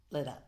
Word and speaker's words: Leder: Is it Marilyn Leader? It is. Leader? Yeah. Leader. Let me start again. Okay. This How do you leader is pronounce?